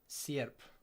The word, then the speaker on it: sierp: Let me listen to Google Translate, say how that's supposed to be pronounced. Serp. Sierp. Okay. Sierp.